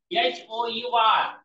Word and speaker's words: hour: तसंच कालच तुम्हाला सांगितलं की हा शब्द आहे HOUR, यातलं याच आपण सायलेंट केलं होतं, उच्चारच नाही येत.